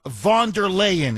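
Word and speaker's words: von der Leyen: So the Europeans themselves yesterday the EU commissioner U. Vondaan is how you pronounce her last name.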